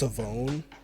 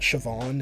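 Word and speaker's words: Shavon Revel: ask him but he's also heard that it's pronounced savone it's not Siobhan it is savone rll so I think that's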